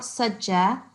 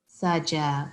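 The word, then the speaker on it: سجى: So there's no shad here. So it's not sajja. سَجَى. Saja.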